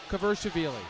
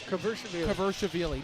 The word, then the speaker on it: Kvirchishvili: No, Mike Falvo had it phonetically. Kvirchishvili. Yes. Kvirchishvili. You got that, Jay? Kvirchishvili.